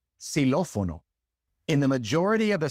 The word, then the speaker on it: xilófono: And in the few words in which the X comes at the beginning of the word, it's pronounced like an S, xilófono.